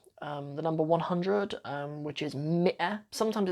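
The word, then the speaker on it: مئة: but it's not pronounced ma'ah. I've heard a news reporter on like BBC Arabic before saying ma'ah, but it's not correct. Mi'ah is how you say 100.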